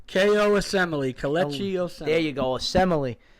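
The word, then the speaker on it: Osemele: was the first move trading from big ko awesome male right that's how you say his name ko assembly collection there you go assembly we'll see how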